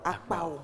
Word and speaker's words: Akpao: Akpao. Oui, en réalité, le H ne sort pas parce qu'il n'y a pas H dans mon nom. Donc selon... Oui, la prononciation ne devrait pas avoir le H.